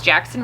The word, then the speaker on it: Jaxon: We spell it Jaxon. So it's Jackson Riley.